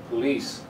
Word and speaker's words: police: the same thing with this word police the second syllable is a strong one police sound right you'll be